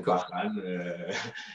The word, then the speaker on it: Barhan: Et en français, le RH se lit R. Et du coup, c'est juste donc un changement d'orthographe, mais pas de prononciation. Donc, c'est toujours Bahan.